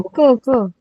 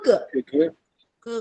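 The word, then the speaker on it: 哥哥: 我哥哥，这是我 first tone. 这是我有，这是我哥哥， no higher 这是我哥哥，哥哥哥哥，有，这是我哥哥， That's right.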